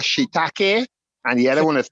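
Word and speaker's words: shiitake: um I I I keep hearing how you pronounce certain mushrooms but the mushroom is called shitake and the other is called Mii thank you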